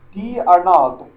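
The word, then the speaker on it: d'Arnaud: catch their starting catcher Travis D Aral French French pronunciation um he they picked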